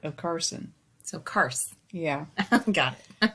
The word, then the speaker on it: Carson: my name is carson it's not pronounced like the plural of cars the vehicle it's pronounced like you're just cutting off the the on part of carson so cars yeah got